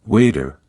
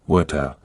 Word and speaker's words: water: In American English, it often sounds like waiter, with a soft D sound. In British English, it's more like water, with a clear T sound.